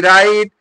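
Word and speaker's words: write: आर तो ध्यान रखिएगा जहां भी डब्लू के बाद अगर आर आता है तो साइलेंट हो जाता है इस चीज को ध्यान रखिएगा और प्रोनंसिएशन किससे किया जाता है आर से किया जाता है तो यहां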